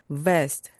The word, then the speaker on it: vest: 그래서 V로 발음해 주세요. vest, vest, 조끼입니다.